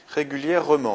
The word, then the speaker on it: régulièrement: Régulièrement, on a une prononciation en aimant, donc un seul M.